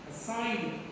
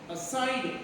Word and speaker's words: aside: We have to pronounce it. Aside. Aside.